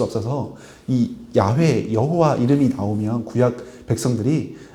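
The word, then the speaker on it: 야훼: 그래서 이스라엘 사람들이 지금도 가면 여호와라는 단어를 야회에 가깝게 약간 그 히이 그 가래 끓는 소리거든요. 야 이렇게 발음을 합니다.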